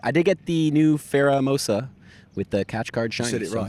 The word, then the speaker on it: Pheromosa: But I did get the new Pheromosa with the catch card shiny.